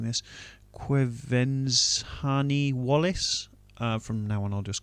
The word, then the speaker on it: Quvenzhané Wallis: I'm going to have a bash at pronouncing this. Quvenzhané Wallis.